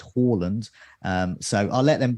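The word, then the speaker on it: Haaland: the live chat about how to pronounce his name apparently uh horland says harlan's is fine uh but uh but then a norwegian has come into the chat saying it's in fact horland um so i'll let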